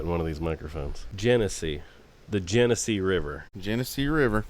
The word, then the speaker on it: Genesee: Genesee. The Genesee River. Genesee River. And that's how you pronounce it, folks.